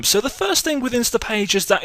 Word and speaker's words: Instapage: all about insta page I've been calling them insta Pages for quite a while I don't know why I just just uh got the name wrong but it's insta page okay and if you